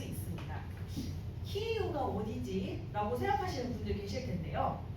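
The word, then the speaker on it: Київ: 키우가 어디지라고 생각하시는 분들 계실 텐데요. 키에프라는 도시 아시죠? 우크라이나의 수도입니다. 예전에는 러시아식 표기인 티프를 많이 사용했지만 최근에는 우크라이나어 발음에 가까운 키우라는 이름을 사용하고 있습니다.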